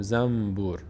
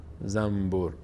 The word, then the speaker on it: زنبور: همیشه گفتم زنبور مثلاً ما نمیگیم زن زنبور نون رو میم تلفظ می‌کنیم میگیم زنبور زنبور به خاطر راحتی تلفظ